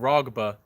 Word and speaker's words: Raghba: It's spelled Raghba. That's how it's spelled. It's called Rogba.